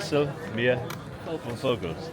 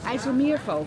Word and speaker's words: IJsselmeervogels: No, you say one word. Ijsselmeervogels. Ja, Okay. Beetje getraind hoor. Ja, Yeah. dat is I just said Ijsselmeervogels.